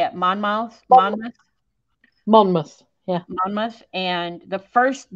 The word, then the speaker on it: Monmouth: Monmouth.